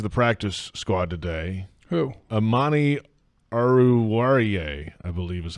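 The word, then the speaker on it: Amani Oruwariye: Amani Aruwariye, I believe is how you say it.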